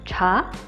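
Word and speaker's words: chá: CH dibacanya seperti huruf J. Karena ada H-nya, kita lidahnya menekuk ke belakang, terus mulutnya agak maju. Jadinya cha.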